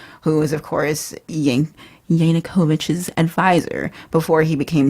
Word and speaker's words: Yanukovych: book we did mm-hmm he worked for a Yankovic is that how you pronounce it Yankovic Yanukovych yeah you're thinking a Weird Al yeah yeah